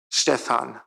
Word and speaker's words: Stephan: It's the in German the second syllable is long, so Stephan.